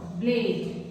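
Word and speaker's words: blade: ब्लेड ब आधा आएगा ब्लेड लास्ट वाला जो ई होता है ये साइलेंट होता है उसको हम रीड नहीं करते हैं उसका आवाज कुछ नहीं है ब ल पे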